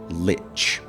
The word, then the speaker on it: Lich: Uh, I am actually completely aware of the fact that the most common way to say this word is lich, as if it had a t before the ch.